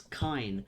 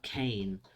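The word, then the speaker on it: Kaine: And it's Kine, not Kane. Or Kiner, I suppose, for Maria.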